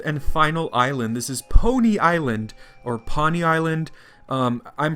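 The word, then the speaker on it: Poni Island: final island this is pony island or pani island i'm pronouncing it phonetically it looks like pony island even though that sounds like pony like a horse so i'm wandering around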